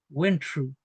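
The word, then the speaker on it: wentru: Peñi, cuando leamos esta consonante no es igual que el castellano, ya es tr. Entonces, en vez de decir when true, vamos a decir when true. When true. Went true.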